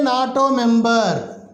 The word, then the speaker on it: NATO: a sark country a nato member north atlantic treaty organization here it starts with n here n but what is its pronunciation as an acronym not o na na is a consonant therefore here we use